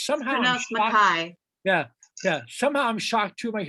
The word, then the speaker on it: MacKaye: My last name is MacKaye. I just wanted to say that I feel like it's often mispronounced.